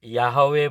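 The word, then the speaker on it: יהוה: या उच्चारण करते हैं बहुत लोग यवे बोलते हैं बहुत लोग यहोवा बोलते हैं बहुत लोग जेहोवा बोलते हैं लेकिन मैंने जैसे ही हिब्रू भाषा को गहराई से पढ़ा तो मुझे यह उच्चारण सही लगा यावा तो इसका अर्थ तो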